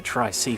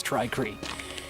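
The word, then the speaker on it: Tri-Cree: a try Cree light I've been pronouncing a try see for some reason it's try Creek and this means it's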